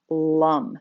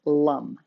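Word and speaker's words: lam: sound the sound is lum it's spelled l-a-m but it's pronounced with a u sound lum all right and the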